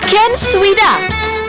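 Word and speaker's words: Knswda: Apan kun i-pronounce, Ken Swida.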